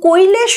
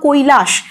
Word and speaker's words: কৈলাশ: নিয়ে হাজির হচ্ছে এবং কৈলেশ বলে একটি ছেলে সম্ভবত তার ভালো নাম কৈলাশ গ্রাম্য উচ্চারণে সেটা হয়ে গেছে কৈলেশ তো এই কৈলেশ বলে